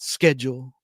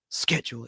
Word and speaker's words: schedule: And it's schedule in England, not schedule, the way they pronounce the word schedule. It's schedule.